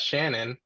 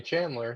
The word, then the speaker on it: Chandler: we were growing up he pronounced it as shannon i don't know why he he just wanted to call me shannon um now he recently he's finally started calling me chandler so we're hoping it